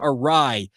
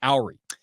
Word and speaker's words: awry: A couple of you sent me links and said, hey, Jake, you used the term awry on the show. You pronounced it Owry.